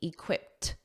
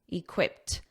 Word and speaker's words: equipped: functions as your adjective notice that pronunciation that e d is a soft T equipped equipped now when you say